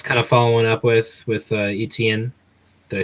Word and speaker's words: Etienne: had the Jets kind of following up with Etienne. Did I say it correctly that time? Etienne, yeah, you got Etienne. it right. Okay, that's gonna be the whole struggle with me pronouncing his name the entire season.